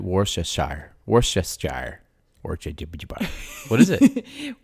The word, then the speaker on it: Worcestershire: really say anything honestly the shire is actually completely dropped it's more of just a it's a common thing it's been simplified i guess was that